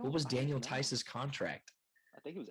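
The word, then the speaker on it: Theis: That's how you pronounce his last name, right? Tice.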